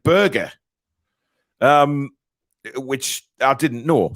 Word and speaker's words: Berge: a midfielder uh sander Burge by the way who I found out that you pronounce his surname Burger um which I didn't